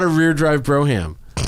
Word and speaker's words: Brougham: not a rear drive Brougham actually pronounced broom but it's Brougham oh it's the oh